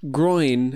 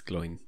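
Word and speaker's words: Glóin: So I'm going to get the name wrong because I always called him Groin instead of I know it's Gloin.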